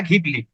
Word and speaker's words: Ghibli: কেউ বলছে ঘিবলি, কেউ বলছে জিবলি। তো ফাইনালি দেখলাম যে ইংলিশে ওটাকে জিবলি বলছে, আর ইটালিয়ান প্রোনাউন্সিয়েশন ওটা ঘিবলি।